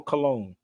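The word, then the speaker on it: Colón: picture I took of Columbus burial look Christopher cologne tune that was in when we was in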